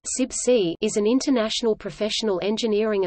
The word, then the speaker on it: CIBSE: of building services engineers CIB se pronounced subsea is an international professional